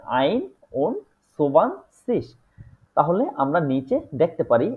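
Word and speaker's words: einundzwanzig: 20 21 ঠিক আছে সেটাকে হচ্ছে এভাবে বলে আইন সুবান সিস তাহলে আমরা নিচে দেখতে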